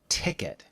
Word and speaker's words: ticket: visitor visitor you should think of the word ticket in English as a different word from Japanese